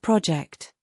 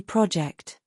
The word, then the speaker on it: project: In this case, the stress goes in the second syllable. As you can see, it's not project. When it's a verb, it should be project.